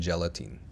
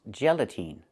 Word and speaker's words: gelatin: The word is not pronounced gelatine. It's pronounced gelatin. The last syllable, the last vowel, is not the long E like green beans. It's the short I like this is. It's more open. Not E, but I, gelatin.